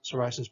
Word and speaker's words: psoriasis: fact we're talking about here's a word that begins with yes and it has the typical s sound so psoriasis psoriasis people with psoriasis by